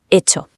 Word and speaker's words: hecho: Pero en castellano esa F primero se aspiró y luego acabó siendo una H muda, hecho.